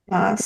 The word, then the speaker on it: Mads: It is Mads, spelled Mads, but it's but not I read pronounced it. It is not because he says it is Mass or Mass Moss.